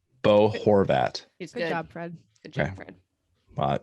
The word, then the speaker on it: Bo Horvat: move out of this question um is it pronounced bo horvat bo horvat his good job fred well it's just fanatic